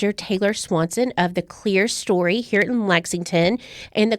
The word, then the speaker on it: Clerestory: in fast conversations sometimes I say it the clear story um so it is the clear story correct it is pronounced clear story okay and so you actually work under Shelley